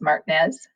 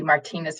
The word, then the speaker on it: Martinez: But I had decided that I was no longer going to pronounce it as Martinez. And I wanted to be Martinez from here on out.